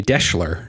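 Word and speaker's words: Deshler: Tonight, I am drinking a Deschler. It's kind of a variation on a Manhattan, and it a little bit sort of rhymes with Daimler.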